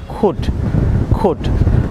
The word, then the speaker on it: could: Viewers, আপনারা অনেকেই COULD এটিকে অনেকেই কুড প্রনাউন্স করেন, এটি সম্পূর্ণ রং প্রনাউন্সিয়েশন। এটি সঠিক উচ্চারণ হবে খুড খুড।